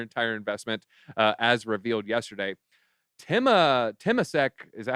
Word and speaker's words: Temasek: Temasek, is that how you say it? Yeah, Temasek.